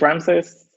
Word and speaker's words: Ramses: a couple of sentences hi my name is Ram says my surname is pronounced and I work at gana integrity